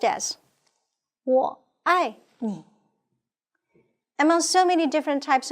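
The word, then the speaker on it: 我爱你: And I love you can be recorded with three Chinese characters, pronounced as 我爱你.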